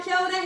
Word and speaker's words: kia ora: Now, kia ora has many different meanings.